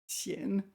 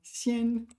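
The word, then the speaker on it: 鲜: of this character that means rare and pronounced xian, not xian.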